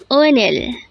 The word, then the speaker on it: 오늘: Onel. Onel. This is pronounced as a twocllable word. The first syllable is o and the second syllable is null.